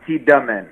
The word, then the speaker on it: Tiedemann: And is it Tiedemann or Tiedemann? How do you say Tiedemann. Second one, Tiedemann.